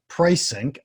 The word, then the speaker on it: Prisync: He is CEO and co-founder of Prisync. Ooh, I didn't ask him how to pronounce that. We'll find out later if I got it right. That's correct. Pricing. That's just like pricing itself, actually.